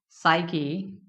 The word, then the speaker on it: psyche: can have which is psyche again B is silent air it will be psyche and I'm going to